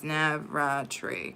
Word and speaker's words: Navratri: And Navartre is pronounced as Navratri.